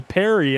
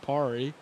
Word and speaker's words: Perry: actually do it so it is ashley perry in lane four not parie and uh good thing